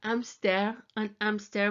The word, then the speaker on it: hamster: If you feel embarrassed about coming up with actions like I used to do for an hamster with a silent H, an hamster.